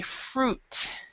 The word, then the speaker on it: fruit: Even though the I is there, with this word and also the word suit, the words with ui, we actually do not say the I, so we say fruit. Fruit, yes. Fruit and suit, and so that's a real common mistake made by non-native speakers.